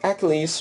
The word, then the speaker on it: Achilles: So, Achilles, or Achilles, whatever you want to say, I've seen it pronounced both ways, actually.